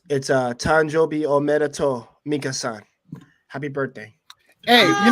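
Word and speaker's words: 誕生日おめでとう: It's Tanjobi Omedeto Minka-san.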